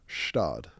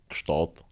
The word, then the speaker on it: Gstaad: Can you confirm? Gstaad. Gstaad is perfect. Stad guy. Gstaad is perfect. Some locals in Gstaad Yeah. say Gschtaad. Schtaad.